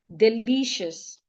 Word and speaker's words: delicious: like delicious delicious delicious the i, o u s the vowel there i, o u becomes a sure delicious the first syllable we are not stressing it however the e becomes a e a instead of a shua that's why we say delicious.